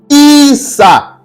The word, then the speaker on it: Issa: On va cliquer sur ce verbe-là, ce n'est pas Yasha, mais ce verbe-là, ça se prononce Issa.